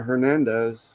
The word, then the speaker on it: Hernandez: I think you do are you pronouncing the H I guess I am sword Conor Hernandez silent h then you're saying it wrong Hernandez Hernandez Hernandez yeah